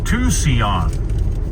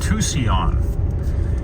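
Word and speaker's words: Tusayan: Grand Canyon learned something how do we pronounce t-u-s-a-y-a-n Tucson so remember that if someone asks you in a trivia game it's called Tucson we're within the boundaries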